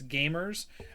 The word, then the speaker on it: GVMERS: It's Gamers, and it's spelled with a V instead of an A. GVMERS.